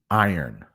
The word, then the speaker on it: iron: So if you can say earn, I know that R might be hard, but it's I earn. I earn. Iron.